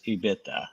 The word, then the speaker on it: EBITDA: focus on what actually affects ebitda is actually the proper way to say it I apologize um and